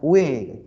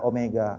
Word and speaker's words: Omega: tachaya besok ada nih bacanya w bukan W bacanya Omega artinya disini kecepatan sudut